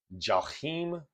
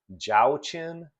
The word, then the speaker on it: Jachin: There are many pronunciations based on the fact that this is Old Hebrew being turned into English Romanized pronunciations. And so you'll hear Joachim, Joachim, Joachin, all as the masculine serpent, the masculine pillar.